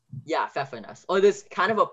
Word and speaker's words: Pfeffernuss: There are double Fs and the first part, is it called Pfeffernuss? Yeah, Pfeffernuss. Or there's kind of a pfeffer, but that's only its alternate pronunciation and it's very small. But yeah, normally it's Pfeffernuss.